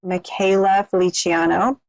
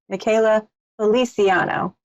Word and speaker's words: Michaela Feliciano: fabulous guest last week, Michaela Feliciano. I mispronounced it. Let me try it again. Michaela Feliciano. Beautiful Italian name.